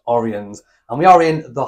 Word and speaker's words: Oriens: Some people might say Oriens, but we've been reliably told it's pronounced Oriens.